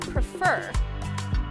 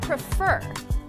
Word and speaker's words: prefer: second syllable is stressed the second syllable is also stressed in the word prefer can you hear the word stress prefer when the second syllable